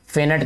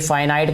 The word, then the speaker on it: finite: तो यहाँ पे इसको भी हम क्या कहेंगे, फिनिट कहेंगे, सॉरी फाइनाइट कहेंगे। मैं फिनिट इसलिए कह रहा हूँ बेटा, मैंने आपको बताया कि जो मुझे पढ़ाया गया था उसमें इसकी प्रोनाउंसिएशन फिनिट ही बताई गई थी, फिनिट और इनफिनिट।